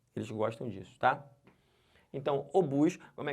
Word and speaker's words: obus: que fala isso aqui o bus não é ovos não é OBS é obus e o que quer